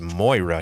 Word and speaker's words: Moira: possibly be because while moira also it's pronounced moira you